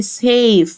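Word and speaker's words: safe: اهي كلمه امن يعني سيف سيف افتكر دايما ان الاي في الاخر ما بننطقهاش ولكن ليها وظيفه ان هي بتساعد الحروف الشائيه او الفاولز ان هم يقولوا اسمهم يعني مثلا هنا عندي الاي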